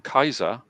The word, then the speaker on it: Caesar: said that in Phoenician Caesar or as it's pronounced in in ancient Latin Kaiser as exactly as it's as exactly as it's